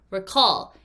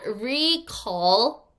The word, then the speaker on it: recall: Recall. It is not recall. Well, I guess you can in some sentences, but it's best to pronounce it as recall.